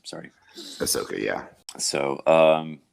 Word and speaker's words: Ahsoka: three others it's like ridiculous Ahsoka is that pronounced sorry Ahsoka yeah so uh um N I think a